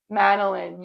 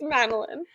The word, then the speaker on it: Manolin: You should know how it's pronounced. Manolin. Madeline. You see why I said that? I think of mandolin. So we got Ernie and Melatonin. Anyway, It's Manolin.